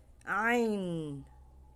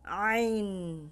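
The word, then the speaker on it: ع: sa likod nakaangat next ain ain sa pagbas nito hindi gumagalaw yung dila ah instead dumadaan ang tunog dito sa lalamunan ain ain next Gin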